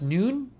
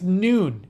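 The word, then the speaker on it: Nuun: Oh, it's pronounced noon? Oh, it's noon.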